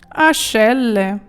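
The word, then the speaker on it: ascelle: позихаю ашеле пахви ашеле Бачите як воно читається ашеле мідиво депіляре Леше Мені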